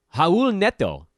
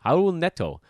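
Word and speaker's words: Raúl Neto: and his name is actually pronounced like an H hon or silent how old net toe 11 points four assists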